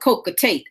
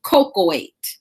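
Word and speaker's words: cocoate: cocoa 8 now I used to call it coca tea and I was like in my dyslexic obviously I was but it's pronounced cocoa 8 those two prongs are the biggest killers in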